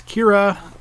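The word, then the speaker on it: Qi'ra: this movie Keira it which is spelled Qi with the accent mark on the IRA so it's Kira but it's cue IRA Kira obviously stunningly beautiful she always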